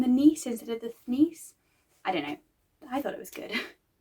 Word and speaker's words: Thnis: Nis textually, even though she also mentions that to them their name is Thnis. The point is, because it was difficult to pronounce by the people in the city, by the people in power, they were known by the powerful people as Nis instead, as a shortening and easing.